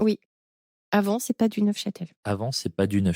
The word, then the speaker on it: Neufchâtel: Alors tu dis ne châtel. Neel bah c'est du neuf Châtel. On prononce forcément le F.